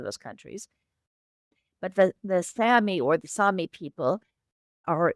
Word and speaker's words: Sami: So these are members of Sammy culture and I and I I should pronounce it Sami.